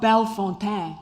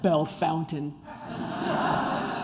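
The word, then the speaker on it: Bellefontaine: couch and I have this bad habit of pronouncing all the St Louis French names like they're French Gravois Lafayette how about belfonte instead of Belle Fountain and people are like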